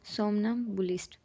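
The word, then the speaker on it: somnambulist: ठीक है, सोमनाबुलिस्ट। ये एम वैसे साइलेंट है।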